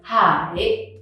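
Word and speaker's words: Hải: You go a bit up and then low and then a little bit up again, so it's Hai.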